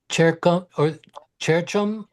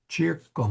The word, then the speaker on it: circum: Cercum oppida muri. So hard C. Circum.